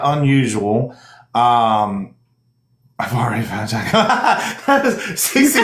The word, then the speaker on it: Jacq: Her username is blah, blah, Jack, but it is spelled JACQ.